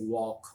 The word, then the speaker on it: walk: silent in words like like in English you have when you say walk you have the silent L there you didn't say walk or tall you say talk walk because there's an L